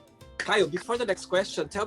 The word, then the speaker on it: Kyle: uh the way my name is actually pronounced is kyle kyle oh sorry that's okay i'm glad you said